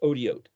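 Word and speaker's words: אותיות: as signs and symbols, Aleph Tav Vav Tav, it's pronounced Odiot.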